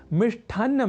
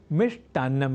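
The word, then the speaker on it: मिष्टान्नम्: है अपूर्ण और अशुद्ध, क्योंकि मिष्ठ की जगह मिष्ट इस संस्कृत शब्द का होता है व्यवहार सर्वथा शुद्ध, अर्थात मिष्ठान्नम नहीं मिष्टान्नम ही।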